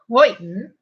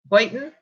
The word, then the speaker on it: Houghton: Houghton, I said it right. Houghton? No. Houghton.